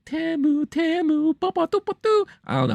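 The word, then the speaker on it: Temu: spots and that was TAMU which now I know how to pronounce it I used to be calling it teu but it's TAMU TAMU had multiple spots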